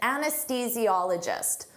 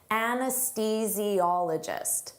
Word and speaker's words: anesthesiologist: An anesthesiologist, don't let this spelling confuse you. Native speakers have difficulty with the pronunciation of this. Anesthesiologist.